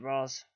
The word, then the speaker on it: Ra's al Ghul: round I shall go actually I pronounce it Ross is that like is that have explained without vici call or something who really cares like you could pronounce it either way no one cares but no what you say